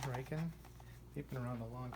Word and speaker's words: Riken: out some new ones I was pronounce it riken ricken they say Rick but it's r i Keen riken they' been around a